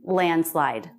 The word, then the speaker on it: landslide: by a lot and that d will be dropped because it comes after an end and before a consonant landslide i have one last